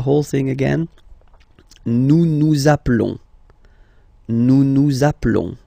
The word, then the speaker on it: appelons: the verb, okay, nous appelons, and then little link would be perfect, so let's pronounce the whole thing again, nous nous appelons, okay, final S doesn't exist, nous nous appelons.